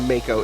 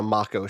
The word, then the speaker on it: Mako: I'm on Wikipedia, and it says the A is the A that you would pronounce in father. So yes, I think it's a Mako shark and not a Mako shark, which means there must be some Maori.